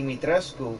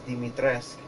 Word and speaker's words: Dimitrescu: Because Dimitrescu, I thought it'd be Dimitrescu, but it's Dimitrescu. So the U is silent.